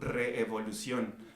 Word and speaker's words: Reevolución: My podcast and everything that I'm doing, it is called Reevolución, but it's spelled R33, V as in Victor, OLUCION.